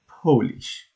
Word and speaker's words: Polish: into another language sometimes I translate them into polish here I want to say a very important